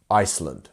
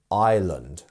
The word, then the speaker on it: island: So island, as you can see, it should be pronounced Iceland, right? Because we have the S. But funnily enough, it's not. And we actually just miss out that S entirely. And we would just say island, island.